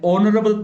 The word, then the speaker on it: honorable: An honorable person. An honorable person. Here again, H silent.